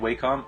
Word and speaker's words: Wacom: about the uh cintique or syntic however you pronounce that I you say it like waycom okay so we're we're both the same then